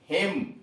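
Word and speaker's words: hymn: एच आई एम एन, हिम, एच आई एम एन, हिम, स्तोत्र, स्तोत्र यानी श्लोक, हाइम, सी ओ एल यू एम N, column, पृष्ठ का भाग।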